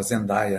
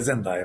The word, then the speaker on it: Zendaya: E também o Rivais com a Zendaya, né, Zendaya, eles pronunciam assim, mas aqui é Zendaya para nós, né?